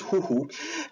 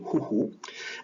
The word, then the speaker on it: huhu: From the Malay Indonesian area, speaking area, the further east you go, the weaker the S sound becomes. So in Polynesian languages, Fijian has a S, suthu, but once you reach Tonga, it becomes the letter a H sound, aspiration, huhu, and by the time you go to Hawaiian, it's gone completely. And so this is one